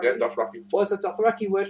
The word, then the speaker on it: Dothraki: Did I pronounce that right? Dothraki? Yeah, Dothraki.